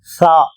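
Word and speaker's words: ث: இங்கு மூன்று புள்ளிகள் இது சா இந்த எழுத்தை உச்சரிக்கும் பொழுது நுனி நாக்கை மேல் பற்களில் வைத்து உச்சரிக்க வேண்டும் சா சா அடுத்த எழுத்து ஜீம் ஜீம்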